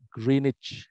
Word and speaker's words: Greenwich: ada tempat namanya kritik tulisannya duwik tapi dibacanya grained situlah anu apa pusat